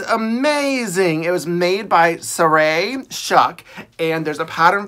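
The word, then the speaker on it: Sarai: They were also made by Saray, and I hope I'm pronouncing it right, Saray. It's S-A-R-A-I.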